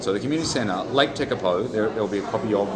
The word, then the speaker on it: Tekapo: It's actually pronounced Tekapo. I thought it was Tekapo. It's actually Tekapo, and really good.